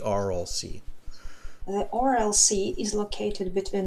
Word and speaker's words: Aral: read it i'm ready is it oral or i'll see yeah i think you're right the pronunciation is the rlc the rlc is located